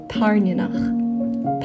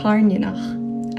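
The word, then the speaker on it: Tairneanach: If you didn't know, most of the dragon names are actually Scottish Gaelic words.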